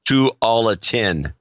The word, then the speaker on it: Tualatin: Pronounced Tualatin.